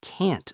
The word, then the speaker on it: can't: So can is weak and reduced like I can swim, but can't is strong and clear, like I can't swim.